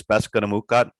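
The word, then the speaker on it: Peskotomuhkati: So the Passamaquoddy, the anglicized version of my tribe's name is Passamaquoddy, and my own language is Beskanamukut.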